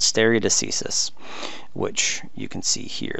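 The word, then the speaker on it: stare decisis: federal and state level is a concept called stereo diseases which you can see here that's how to pronounce that stereo deceases you'll find alternate pronunciations but that seems to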